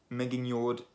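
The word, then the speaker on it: Megingjörð: why the same as with yotan which is spelt with a J and a lot of people couldn't live Jotun and just anyway Megan yard is Thor's magic belt it exists in the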